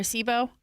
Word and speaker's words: Sebo: I think it's called a SEBO or a SIBO. I don't know how to pronounce it. How do you spell it? S E B O. S VO or BO. B is in boy.